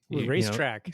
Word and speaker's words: Raistrick: Racetrack. See, there's 2 points that I hit. Raistrick. It's pronounced racetrack.